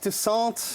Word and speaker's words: Toussaint: Steve Toussaint. Did I pronounce all or any of those correctly? Steve Toussaint. Steve Toussaint.